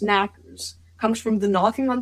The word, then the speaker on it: Knockers: The name Knockers, pronounced Knackers, comes from the knocking on the mine walls that often happens just before cave-ins.